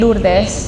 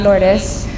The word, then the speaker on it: Lourdes: like everywhere i go everybody can say my name lourdes not lourdes and they're number nine